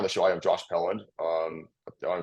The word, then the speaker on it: Pelland: show I am Josh Pand um I pronounce seeing your last name right dude you you nailed it uh usually it's peand paland or people would just think that the N is an R so it's so like